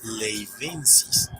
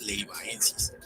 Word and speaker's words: leivaensis: Leyva, por lo que no se pronuncia Padillasaurus leivensis, sino como se lee Padillasaurus leivaensis, pues esa AE no es un diptongo, sino la mera y